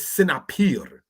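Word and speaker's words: סנפיר: The word for fin in Hebrew is sinapir. Sinapir is how you say that.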